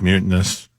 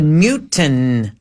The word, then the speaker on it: mutinous: Yeah, what's mutinous? Shouldn't talk. Oh, mute. Oh. I agree. I thought you said mutin, like a mutation.